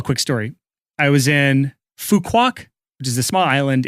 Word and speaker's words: Phu Quoc: I was in Phu Quoc, which is a small island in Vietnam. You can also pronounce it Fuck Walk, which I have many jokes with that.